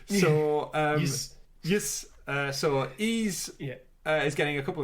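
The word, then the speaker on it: Ys: facts uh it's pronounced ease long sound long e sound hard s the best description ever like the word geese without the g e e yeah so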